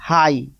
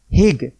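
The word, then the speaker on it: high: उच्चारण हो रहा और यह शब्द जी एच क्या है साइलेंट कहीं आप लोग ऐसा मत बोल देना हिग हिग मत बोलना यह गलत हो जाएगा यह है हाई क्या बोलना एच आई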